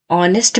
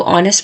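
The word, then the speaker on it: honest: ऑनेस्ट में H silent हो जाता है। ओ ओ की देता है। तो ऑनेस्ट में साउंड वोवेल की आती है।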